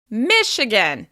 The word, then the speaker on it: Michigan: As you can hear, the first syllable is stressed.